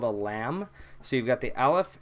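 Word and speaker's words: لام: this is called a lamb so you've got the Aleph and then this is the lamb a lamb is a typical L sound just love there's nothing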